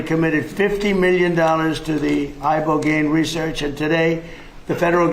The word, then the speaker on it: ibogaine: Ibogaine. Remember the name. Is that pronounced relatively properly, would you say? Yes. I don't want to get it wrong. Ibogaine cuz it's so important and experienced an 80